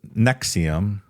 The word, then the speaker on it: NXIVM: Keith Reeri buil Nexium pronounced Nexium well you know NX IBM pronounced Nexium as a self-help group